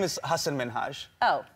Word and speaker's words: Minhaj: into the interview Hassan Minaj yes no really well my name is Hassan minhaj oh she pronounced it as Hassan Minaj rather than Hassan minhaj prompting him to correct her not only that she